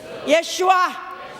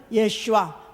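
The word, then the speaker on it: ישוע: 누구냐면 예수 그리스도다 예수예수 예슈아 예 아주 원래 우리 본토 발음으로 하면 예슈아 성경의 원래 히브리 발음으로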